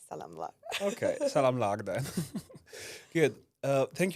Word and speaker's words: salamlar: Salamlar. Salamlar. It's like salam. Yeah? It's the international word, I guess, for many countries, but I add lar, and I think it's